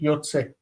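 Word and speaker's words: יוצא: We have Yud, Tzadi, Aleph. We say O, A, and Aleph says, I'm fine. You don't need to pronounce me. Yotze.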